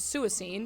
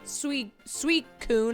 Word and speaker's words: Suicune: It looks like it says suicide, so I was reading it as Suicune, and someone said, wrong. You're saying it wrong. So I started saying it sweet coon or whatever it said.